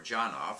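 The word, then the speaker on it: Janov: was the work of arthur yanov or johnoff some people pronounced who was a a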